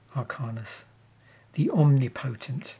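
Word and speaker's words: Arcanis the Omnipotent: There we guest appearance from old frame card there in the form of Arcanus, the omnipotent, not the impotent, as I sometimes mispronounce it.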